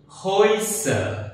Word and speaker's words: Häuser: It is pronounced as oi. For example, Europa means Europe. Let's give another example, Häuser, that means houses, plural.